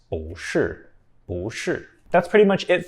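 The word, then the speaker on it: 不: used to negate something normally this character is the fourth tone but if bu is followed by another character with the fourth tone then bu changes to BU with the second tone one example is with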